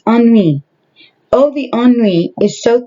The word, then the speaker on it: ennui: It says, oh, the NUI or NUE is so thick around here. How do you say that? Oh gosh, hold on a minute. Okay, I said it totally wrong. It's ennui.